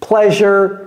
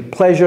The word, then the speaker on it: pleasure: ce n'est pas plaisir je sais que c'est S mais ça se prononce j j comme si c'était un J pleasure to meet you pleasure to meet you et